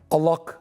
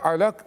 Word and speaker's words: Alak: dikkat edin yani şeyde Arapçada kalın l sesi yoktur M Allah değildir Allah Allah'tır yani Alak değildir Alak suresidir aynı telaffuz edemiyorum Hayır